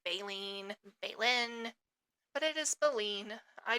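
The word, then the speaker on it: baleen: And yes, it is pronounced balene. I made sure to double check my pronunciation because I'd heard it pronounced a few different ways like baen, balen, but it is balen.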